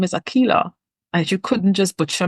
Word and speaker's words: Akilah: correct him I'd never say my name is Akila and you couldn't just butcher my name because you don't know how to pronounce it so there are little things that